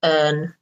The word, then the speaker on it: earn: goes skiing every day notice urn pronunciation is like urn I need to go